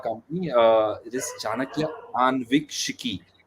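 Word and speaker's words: Aanvikshiki: shiki right so uh let me help you pronounce it let's say uh let's break the word anviks into two words uh see the first word is anu uh someone who is curious to know something right so and let's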